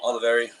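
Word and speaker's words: Olivieri: Um, all the very spell it.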